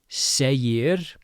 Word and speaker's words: segir: Hvat segir. We have the g right in the middle of two vowels. Second vowel is an i so g is going to sound like a y.